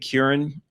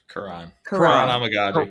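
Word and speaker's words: Kiran: probably done a uh Kieran or Kuran. Alex, you already told me this before. Karan Kuran. Okay. I've been pronouncing it wrong since the guy got drafted. I'm sorry. Karan, I will not pronounce it wrong again.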